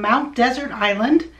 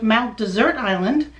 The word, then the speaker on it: Mount Desert Island: harbor is located on mount desert island the old timers from maine call it mount desert island a pronunciation that comes from the area's french heritage speaking of which this